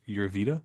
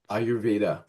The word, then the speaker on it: Ayurveda: Um, how do you see I believe it's Uvita, is that how you say it? Ayurveda.